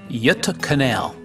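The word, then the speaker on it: Göta kanal: company and this fascinating Canal system the correct pronunciation is yut Canal the Yuta Canal steamship company in Sweden has a long history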